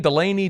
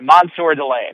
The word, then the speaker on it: Mansoor Delane: what's the last name here I've heard it pronounced like four different ways Delan Delaney Delon how do we say it uh delay's